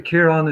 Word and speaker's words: Kiran: so uh yeah K Kiran is how you say my name ja thank you cion